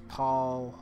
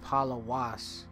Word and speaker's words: פּוֹלוֹס: And then so for what it is, the proper pronunciation is Pawlwas or Pawlwas, all right, which actually